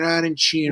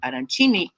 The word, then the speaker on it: arancini: rice arancini and an arancino? Well, we call it on this side of the island arancini. Over there on the other side in Palermo and Trapani, it's an arancino.